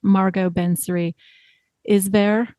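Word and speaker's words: Margot Benary-Isbert: So, for example, I believe the author's name is pronounced Margot Bensary Isber.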